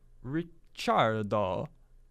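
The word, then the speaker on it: Ricciardo: year impressively slow yeah Daniel richardo which is his the correct pronounciation of his name so now you want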